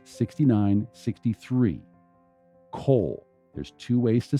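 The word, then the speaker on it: קוֹל: cole there's two ways to spell it they're both pronounced the same and it's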